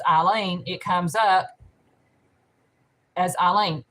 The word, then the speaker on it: Alyne: when she says my name the way it's pronounced eileen it comes up as eileen that when she's